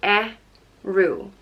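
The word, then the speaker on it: Ériu: Patrick the next goddess is arrow and she's known as the patron goddess of Ireland and it's pronounced a rue arrow and it is spelt with a bada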